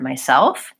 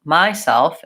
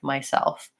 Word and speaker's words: myself: this is the word myself where we should stress the second syllable so it's short long myself I'll often hear people stress the first syllable myself instead of myself but the quick fix